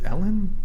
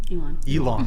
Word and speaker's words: Elon: Elon? Is it Ellen? Elon. I'm saying it right.